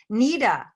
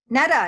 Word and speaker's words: Netta: Nita. Is it Nita? Sir Gordon? Netta, excuse me, forgive me.